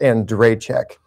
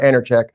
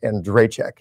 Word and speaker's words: Andrejchek: And while I have you captive here, that's pronounced Andrejchek. Accents in the middle, Andrejchek. Not Andrejchek, not Andrejchek, Andrejchek.